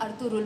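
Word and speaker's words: Ertuğrul: जब टर्किश में बोलते हैं, ड्रामे में जो हमने बोला है अर्तुरुल बोला है, अर्तुरुल। इसमें ना गैन कहीं आ जाता है, बोलते ये वैसे ही है उर्दुआन वाला।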